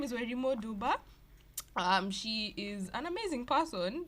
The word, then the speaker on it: Wairimu Nduba: Her name is Wairimu Nduba. Is that how you pronounce your name?